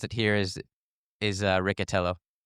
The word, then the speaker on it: Riccitello: Is it Ricatello or Richello? It's I think it's Ricatello. It's been Americanized.